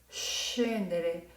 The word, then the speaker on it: scendere: Va a suavizar el sonido y entonces se pronunciará scendere, scintilla, scendere, scintilla.